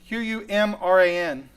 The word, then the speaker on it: Qumran: That is spelled Q-U. It's Q-U-M-R-A-N.